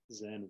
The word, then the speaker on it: Zen: people who don't know, Chan is the Chinese word for the ideogram. And then when it moved to Japan, that ideogram is pronounced Zen.